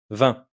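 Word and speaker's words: vingt: 20. Le G et le T sont muet.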